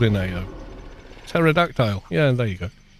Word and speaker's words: pterodactyl: Pterodactile. Yeah, there you go. The P is silent.